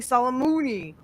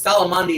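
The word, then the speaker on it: Soleimani: first time by killing Solomoni or however the Trump said. No, no, no. It It's Solomandi is the correct name. He just he just couldn't pronounce it.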